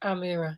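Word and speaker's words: Amirah: William Kyle sorry typo it's a mirror with an H pronounced Amira yeah lovely name yeah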